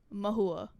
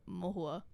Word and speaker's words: Mahua: The Bengali pronunciation is like Mohua. Mohua. Mohua. Like quick. Whereas the English American pronunciation is Mahua.